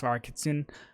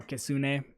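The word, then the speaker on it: kitsune: gir's Bond skill um Yuri Fox kitsun um or ksun is the proper way to say it um that's cool I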